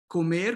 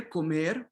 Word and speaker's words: comer: So comer, comer, okay, it's the same as Spanish.